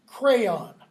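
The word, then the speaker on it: Creon: a priest of Zeus the next character's name is pronounced crayon like the colored things used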